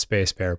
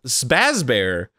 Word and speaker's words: Sbassbear: internet as sebas bear it certainly took me a hot minute to know that their name was pronounced space bear but i think i think there was definitely like a good several months where we were like it's it's spazz bear what else could it be and then and then